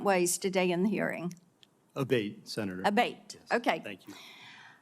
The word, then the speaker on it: Abate: I saying your name properly we've heard it pronounced three different ways today in the hearing aate Senator aate okay thank you um you had